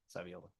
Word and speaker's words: Savioli: number 30 Miranda savioli or yeah savioli gotta get one of these names right man rhymes with ravioli Senator marks representative Felipe